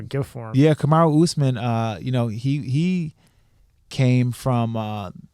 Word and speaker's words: Usman: One was I can never say his name right. Osama. It's not fucking. Muhammad Usman.